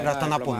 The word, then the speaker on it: ラタナポン: 、はい、タイ国語では最後の L は、うん、N で発音するんです。